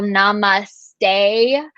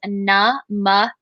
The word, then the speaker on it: namaste: just talked about so there's the whole namaste which is the incorrect pronunciation of it um and then there's namaste okay so that is